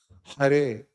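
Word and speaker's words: हरे: Hare. And um you from Russia or which part of CIS? You from Russia itself? So there are many Russian devotees who struggle to pronounce the ha. They say ka.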